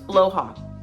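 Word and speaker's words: Blåhaj: Except last time I didn't have my blowha with me, which also I learned how to pronounce that correctly. I think it's blowha, right? The stuff shark. It's blowha.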